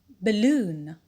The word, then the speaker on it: balloon: picturesque picturesque number seven the suffix un like balloon balloon here the stress pattern is zero too because the word has two syllables and finally the suffix